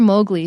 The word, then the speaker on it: Mowgli: And this book is about a little boy named Mowgli, or Mowgli, some people pronounce it like that.